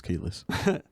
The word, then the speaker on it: Kelis: crazy um but to to to to the keyless kelly now i'm saying it wrong kalis thank you uh like ebro and ebro always owns the name so it is keyless well police um i actually uh look as